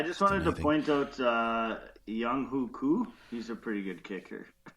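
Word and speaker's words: Younghoe Koo: Young Hoku.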